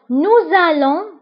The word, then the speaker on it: nous allons: nous allons, nous allons. vous allez. ils vont, elles vont. je vais, tu vas, il va, elle va. nous allons, vous allez.